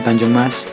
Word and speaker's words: Tanjung Emas: Pelabuhan Tanjung Emas atau terkadang ada yang membacanya dengan Pelabuhan Tanjung Mas dikelola oleh PT Pelabuhan Indonesia 3 sejak tahun 1985.